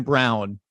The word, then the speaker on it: Braun: gonna get it right Christian Brown even though it's spelled Brawn it's it's just gonna it's